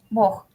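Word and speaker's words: Бог: Bog. La G se pronuncia como J. Bog.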